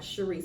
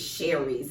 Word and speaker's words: Sharice: my mom was like, "Your name is not Sharice." I'm like, "You spell it like Sharice." She's like, "It's Sherry's."